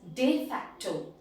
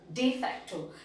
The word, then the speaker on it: de facto: is de facto and the pronunciation in latin is de facto de facto now what does de